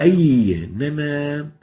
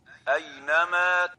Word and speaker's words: أينما: أينما. أي. That's, we're really stressing the ya here. And the right way of pronouncing it is like this. أينما أينما.